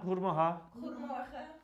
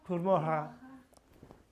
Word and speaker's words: Goedemorgen: Goedemorgen. Goedemorgen.